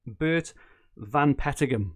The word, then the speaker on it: Bert Van Pettigum: So it's Bert Van Pettigum, and I think that is the right way to say it.